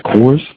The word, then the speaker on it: Secours: you I want to make sure I am pronouncing your last name correctly it is is it's a course it's the core of it well it depends